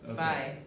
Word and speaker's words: Zwei: Zwei. Yeah, alright, that's the way to say it. Herzog Zwei. Herzog Zwei. Yeah, Herzog Zwei.